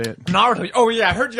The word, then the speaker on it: Naruto: Nataro. Fucking Christ. I got where I the don't orange thing. understand what you're saying. How do you pronounce it, Joe? Naruto.